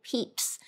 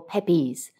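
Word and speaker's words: Pepys: in September of 1666 is Samuel Peeps and not as I repeatedly said Samuel pepees well at least I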